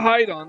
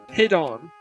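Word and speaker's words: Hidon: dude it on yeah the pronunciation is not hide on it's hiddon because get it the word is derived from hidden so it's hide on hidden hit on hit up hidden so yeah we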